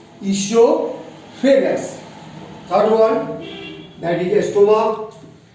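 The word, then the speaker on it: oesophagus: दूसरा है इसोफेगस, ओ इसमें साइलेंट है, वो बोला नहीं जाता है, इसोफेगस।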